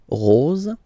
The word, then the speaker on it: rose: bleu marine, okay, here, quite easy, final E is not pronounced, so it goes like rose, rose, rose, okay, then O-N, here goes like on, remember, in your nose, on, on, okay?